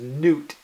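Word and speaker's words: Nut: is the sky goddess and her name is Newt is spelled n UT then the air God shoe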